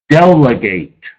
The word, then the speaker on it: delegate: Delegate, delegate. A verb, accent on the first syllable.